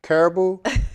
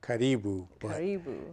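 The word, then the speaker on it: Karibu: how to say it correctly what everyone says Caribou the correct pronunciation is catty boo you know everyone says caribou and that's fine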